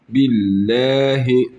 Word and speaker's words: billahi: billahi billahi lei ehi billahi billahi ehi lei lei bak burada ne dedik Allahu lahu lahu burada billahi billahi niçin bi dedik ince okuduk Çünkü lam'dan önceki harfin harekesi Esre Esre ise ince okuyoruz Esre ise üstün ve